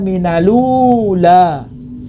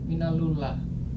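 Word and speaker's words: مِنَ الْأُولَىٰ: Wadduha wal-laili idza saja ma wadda'aka rabbuka wa ma qala walal akhiratu khairul laka minalula. Ditambahi ya. Bukan ditambahi, mana yang ditambahi? Minalullah. Minal ula. Ini dibaca minalula.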